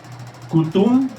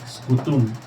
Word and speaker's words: Scutum: Entonces, el primer escudo se llama Cutum, pero con ese al principio. Scutum. Okay. Scutum.